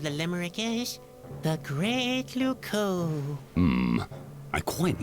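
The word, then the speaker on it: Loucaux: Luco doesn't really rhyme with Bordeaux. It's spelled completely differently.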